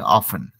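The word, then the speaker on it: often: एफ टी ई एन उसको हम लोग प्रोनाउंस करते थ स्टाइल में ऑफ्टन ऑन टी गायब हो जाता है टी साइलेंट हो जाता है ठीक है य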